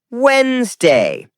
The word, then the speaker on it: Wednesday: Skip the D sound. Natives say Wednesday.